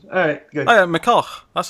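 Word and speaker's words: McCulloch: Yeah, McCullough. That's how you pronounce it. McCullough.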